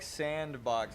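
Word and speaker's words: s&box: Yeah, you thought, It's Sbox pronounced like sandbox.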